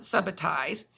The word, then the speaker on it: subitize: point is first step subitize some people pronounce it Subba ties but this big word